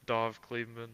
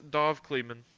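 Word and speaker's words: Dov Kleiman: what his name is I feel like I just butchered that it's a it's a hard name no it is dove cleman yeah I'll send that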